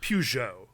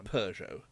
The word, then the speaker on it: Peugeot: I had heard of but never seen, like Peugeot. Like Yeah. I've never once seen a Peugeot in America. I've heard of people owning them, As we would but call I've it, never seen a one. Peugeot.